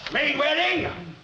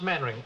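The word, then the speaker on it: Mainwaring: Main wedding. Ah, do sit down. Thank you. Actually, it's pronounced maning.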